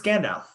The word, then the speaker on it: Gandalf: this right uh I'm really not what you're pronounced I uh Gandalf it's Gandalf Gandalf I'm imagining Elijah Wood saying it in